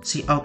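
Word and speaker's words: cout: Terus ini fungsi utama main function integer main int itu integer ya bacanya. Terus see out itu output ke terminal dan itu untuk enter gitu.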